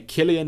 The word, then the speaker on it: Killian: Because it's so small down at the bottom right, I did not even realize that it's pronounced with a K. Okay, Killian it is.